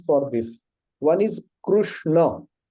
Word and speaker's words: Krishna: way you pronounce but it should be ending with a and not ah so both names are